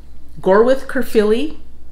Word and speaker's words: Gorwydd Caerphilly: start out with the it's actually gore with kerfi as i said i hopefully i pronounced that correctly so this is actually